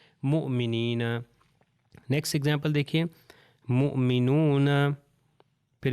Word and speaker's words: مؤمنین: اگر کہوں مومنین تو وہ صحیح نہیں ہے، مؤمنین.